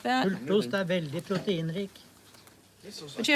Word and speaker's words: pultost: pooltoost. Not what you think it is. Pultost. Not pooltoost.